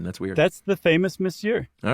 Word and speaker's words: monsieur: How do you pronounce it? Monsieur.